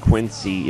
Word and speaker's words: QNC: of on a weird spot right now qnc pronounced quincy is the main guide through both the wii